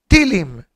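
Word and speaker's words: תהילים: In Israel, they say Tehillim, Tilim. In the Hasidic world, Sephardim pronounce Tehillim with a full sentence, with a full word. In the Hasidic, Medavzugen Tilim. That's how they say.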